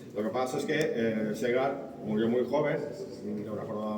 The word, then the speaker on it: Segar: Ah, segar. Segar se pronuncia igual que es cigarro.